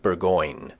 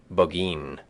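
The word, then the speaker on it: Burgoyne: moose there nutting had a famous foxhound named bergoin he pronounced it bin which my informant used to borrow in the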